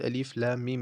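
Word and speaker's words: الم: So it's alif lam mim.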